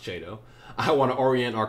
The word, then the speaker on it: Chiedo: this lovely rendezvous with mr che it's pronounced jado i want to orient our crazy ride around